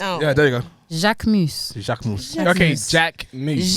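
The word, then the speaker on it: Jacquemus: How Jacques Mouse is pronounced, please. Jacques Mus. Jacques Mouse. Jacques Mouse. Jacques Mouse. Jacques Mouse. Jacques You Mouse. need some milk. God. Jacques Mouse. So how's it said? Jacques Mus. Jacques Moose.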